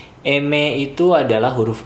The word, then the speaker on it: eme: Terakhir di samping kanannya N adalah M Eme itu adalah huruf M, Mike dalam bahasa Indonesia, huruf M dalam bahasa Spanyol dibacanya eme.